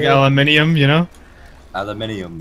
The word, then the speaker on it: aluminium: Aluminium. Yeah, aluminium is how you say it, you absolute banana.